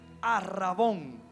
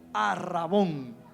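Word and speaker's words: ἀρραβών: Esa palabra en griego es arrabón con acento en la o. Arabón como helados bon. Arrabón.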